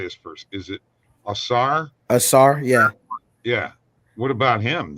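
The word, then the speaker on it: Ausar: Asar, yeah.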